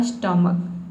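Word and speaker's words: stomach: को क पढ़ते हैं लास्ट में सीच आया है इसमें स्टम और क हो गया आपका स्टमक ठीक है अब यहां पे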